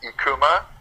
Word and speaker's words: IKKUMA: Um it's pronounced Ekkuma.